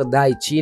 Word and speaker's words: دايتشي: اكو اشخاص هواي ما يعرفون ينطقون اسمي، لكن اسمي النطق دايتشي ناين او دايتشي.